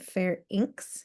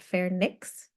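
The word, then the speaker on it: pharynx: portion of the ferins that is how you say that word Fair inks not fair Nicks Fair inks auditory tubes officially called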